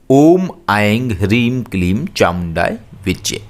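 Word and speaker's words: ॐ ऐं ह्रीं क्लीं चामुण्डायै विच्चे: करना है ओम आएंगे हरीम क्लीम चामुंडाय विच्चे ॐ ऐंग श्रीम क्लीम चामुंडायै विच्चे इस तरीके से आप करिए निश्चय ही यह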